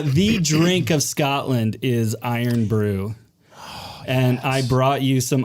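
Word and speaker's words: Irn-Bru: iron Brew in the it's iron Brew i r n b r u iron Brew that's exactly how they say it by the order Scotland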